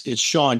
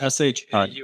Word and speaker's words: Shaune: It's Shaune, just like you. Did I say Shaune? I'm sorry. Yeah, it's spelled funny. It's S-H-A-U-N-E.